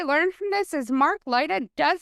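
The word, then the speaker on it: Laita: Leiter, that's how he pronounces his name.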